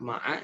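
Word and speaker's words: مع: Itu tadi itu yang khoja ma'aka, ma'a ditambah anta jadi ma'aka. Itu juga ada yang bacanya ma' disukunkan gitu. Ada syekhnya. Cuma jarang, yang sering Mas Jamal dengar itu ma'a.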